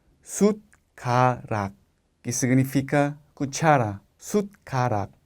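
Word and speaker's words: 숟가락: Si no hubiera tenido la D como aquí abajo, el sonido sería suc suc. Pero con la t como la pronunciación es sutar. Sut karat que significa cuchara.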